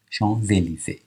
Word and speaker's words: Champs-Élysées: سور ل شانزلیزه، اینجا هم نگاه کنید این اس به این میچسبه، میشه شان، این اس خونده نمیشه ولی وقتی مثل برف صدادار بعدی لیزون میشه شانزلیزه.